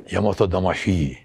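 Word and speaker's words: 大和魂: Ondan tam doğru telaffuz yani Yamato Damashii değil. Hi değil, ikisi arası bir ses. Yamato Damashii.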